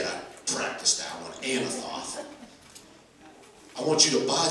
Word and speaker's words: Anathoth: While he's in prison, God says, I want you to buy the field of Anathoth. And that is how you say it. I practiced that one, Anathoth.